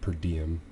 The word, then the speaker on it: PRDM: It's actually pronounced per diem, and then .dev.